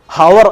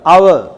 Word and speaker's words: hour: പക്ഷെ ഒരുപാട് സെൻറ്റൻസുകളിൽ അവർ, HOUR, നമ്മുടെ പ്രൊനൗൺസിയേഷൻ എങ്ങനെ? ഹവർ, ഹവർ എന്ന് പറയില്ല, അവർ, ഔ എന്നാണ് ഉച്ചാരണം.